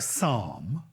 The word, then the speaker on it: Psalm: you about P briefly with a word like Psalm why is the P silent we did used to